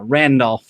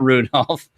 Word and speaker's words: Randolph: And I decided especially to really explore a little more of Rudy and Randolph, not Rudolph, as you might have expected, because apparently I said it wrong.